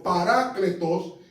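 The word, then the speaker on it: παράκλητος: Y parácletos, así que se pronuncia en el griego, parácletos significa uno que está a mi lado para defenderme.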